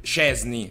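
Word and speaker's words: Szczęsny: ragazzi come al solito ci saranno 7 miliardi di persone che non pronunceranno correttamente che sarebbe szczesny Ecco szczesny ok szczesny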